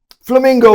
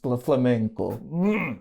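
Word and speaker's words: flamenco: Um uh he says, "Oh, you um flamingo man." It's a flamnco. It's pronounced flamnco.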